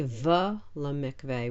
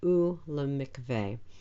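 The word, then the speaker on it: וּלְמִקְוֵה: the shva under it, we don't say v lemikveh, we say u lemikveh. It still means and. We don't pronounce it as a consonant. Remember, we never say vu when we see this. It's just u.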